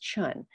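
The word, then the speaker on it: cun: called the chun measurements it's spelled c-u-n pronounced chun chun measurements basically say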